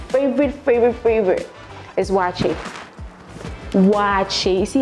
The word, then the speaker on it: Waakye: favorite food favorite favorite favorite favorite is watching watch it you see how I pronounce it watch it like it has some you know that I